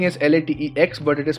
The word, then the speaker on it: LaTeX: and paste it over here the spelling is la te X but it is pronounced as latex okay so this is all